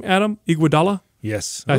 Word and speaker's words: Iguodala: by how do you say his name Adam Iguodala yes I said it right yes also mine